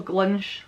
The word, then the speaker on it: glunch: It's spelled like glunch, but it's an SH pronunciation, so glunch.